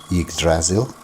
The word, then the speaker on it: Yggdrasil: to be said and most would say yig as in pig the p missing and then sil so it's silk with the